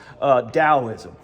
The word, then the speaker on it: Taoism: case, we'll talk about Taoism. Now, it starts with a T in our transliteration in English, but it sounds like the letter D as in dog, Taoism, right?